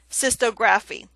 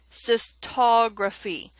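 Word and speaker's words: cystography: it that way so it would be incorrect to say Sisto graphine look at the pronunciation below it sis taug rafi so make sure you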